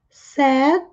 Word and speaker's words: said: Said, vejam que não é said, mas sim said. Sem pronunciar a letra I. Said. É a mesma pronúncia de triste. Triste em inglês é SAD, sem a letra I. E se fala said.